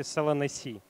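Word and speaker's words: Solanaceae: травянистое растение семейства пасленовых правильно читается по-латински салон эссе да то есть семейства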